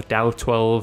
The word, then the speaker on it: DAO-12: at today is the da2 or dow2 as it's usually pronounced this weapon is also